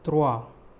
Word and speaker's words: trois: 3 is trois, T-R-O-I-S, trois, S is silent, trois.